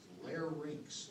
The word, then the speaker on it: larynx: sounding kind of semi-illiterate larynx like skating rinks almost mispronounced orders and